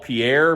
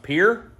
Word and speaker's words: Pierre: Sturgis, we're stopping in what I would call Pierre, but I believe it's pronounced Pierre, South Dakota at the Grey Goose Social Club.